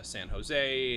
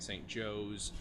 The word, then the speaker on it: San Jose: Well, there's side one is just entitled "Opening California," and he talks about San Jose and pronouncing it St. Joe's, being a little confused.